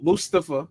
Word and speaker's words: Mustafa: Welcome the cop everybody Welcome the cop M Mustafa by the way because they were saying his name wrong Mustafa Ali who used to be a